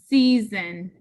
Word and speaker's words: season: And this O, because it is followed by S, gets a schwa, the upside down E. So this syllable says see, zun, season.